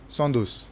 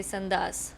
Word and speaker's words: Soundous: and your name is Sondus. Yeah. So yeah, it's not very difficult. Do you get that a lot when people No, I get mispronounce? the opposite where they say sandas.